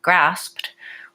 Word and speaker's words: grasped: no II sound and sometimes like in Darlene's word grasped or in the words walked and talked the IDI actually says the T sound okay so alright so